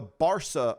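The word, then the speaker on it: Barça: they have something called the barsa museum yes and it's spelled b-a-r-c-a the barson museum is for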